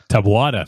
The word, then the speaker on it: Taboada: Taboada. Thank you, EF. You have to correct our gringo pronunciations.